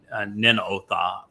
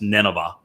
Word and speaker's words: Nineveh: wide open plane near the ancient uh Ninotha uh which was which we would pronounce Nineveh, not far from Mosul